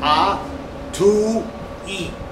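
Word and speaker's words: atoi: Esta función aquí se pronuncia A to I.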